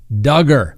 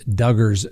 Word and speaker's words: Duggar: Next on the docket, let's talk about Josh Duggar. And for all of those that hate it, that's right, rhymes with hugger, okay?